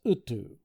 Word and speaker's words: Tagtug: They are fragments of a Chaldeo-Babylonian mythos, and Adam is only a slight variation of Tagtug, pronounced Utu.